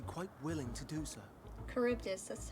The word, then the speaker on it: Charybdis: Charybdis, that's how it's pronounced, okay.